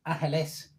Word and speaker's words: Angeles: No, this isn't LA, but I have heard it pronounced that way, the Spanish way, that is, Angeles.